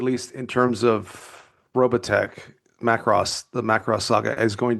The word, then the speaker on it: Macross: Am I pronouncing that correctly? Macros, I think it's Macros. It's Macros.